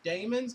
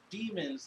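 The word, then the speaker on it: daemons: like to pronounce them I say Damon's because it says da e and then mo Ennis not demons like de mo NS okay so that's the difference unless they are all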